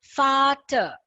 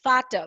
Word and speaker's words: Vater: So V, whenever you see any words with V, then it becomes Vater. Father is Vater. We saw that in the previous class, right?